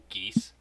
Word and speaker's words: Geas: It's called Geese, spelled Geas.